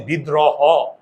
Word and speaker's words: বিদ্রোহ: কি হবে ওকার হবে কি হবে না আমরা উচ্চারণ করি কি বিদ্রোহ হ ও মানে এইস ও আমরা কি হ বলি বিদ্র হ আমরা বলি বিদ্রোহ হো এই ও মানে ওকার